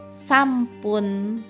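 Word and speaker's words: さんぷん: 3 menit sampun. Nah, bukan sampun bahasa Bali ya, nggih sampun bukan gitu ya, karena N bertemu dengan P itu berubah jadi M, jadinya terbacanya sampun gitu.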